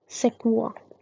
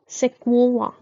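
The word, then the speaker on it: Sequoia: सेक्वुआ, सेक्वोवा, okay. ऐसे हम pronounce करेंगे।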